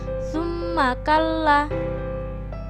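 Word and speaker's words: ثُمَّ كَلَّا: Contoh yang kedua ada tsumma kallaa. Bacaan ini disebut juga bacaan ghunnah. Karena terdapat huruf mim yang bertasydid. Maka cara membacanya juga mendengung dua ketukan atau satu alif.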